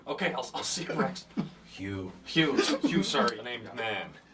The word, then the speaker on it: Hugh: My name's Hugh. No. Gotcha. Okay, I'll see you, Rex. Hugh. Hugh, sorry. The name's Man. Hugh Man. It's Hugh spelled like H-U-G-H, and then man, it's like M-H-A-N.